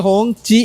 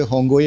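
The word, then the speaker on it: Hongqi: നല്ലത് കാണാൻ ഈ ഇതുപോലെ ഹോങ്ങ് ഷി എന്നാണ് കേട്ടോ ഹോങ്ങ് ഷി എന്നാണ് ശരിക്കും ഉച്ചാരണം അതെ ഹോങ്ങ് ഷി ഹോങ്ങ് ഷി ഹോങ്ങ്ഷി എന്നാണ് ഹോങ്ങ് ഷി അപ്പൊ എഴുതുന്നത് ഇങ്ങനെയൊക്കെ ആണെങ്കിലും ആ ഉച്ചാരണം അങ്ങനെയാണ് പിന്നെ ഇതൊക്കെ എൽഇഡി സ്ട്രിപ്പ് തന്നെ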